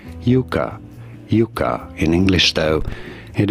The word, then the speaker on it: Yucca: yucca I think it's Yuka I think it's Yuka in Spanish it is pronounced as Yuka Yuka in English though